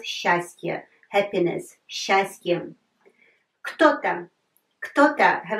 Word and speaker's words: счастье: Have a look, счастье, but we pronounce счастье, happiness, счастье.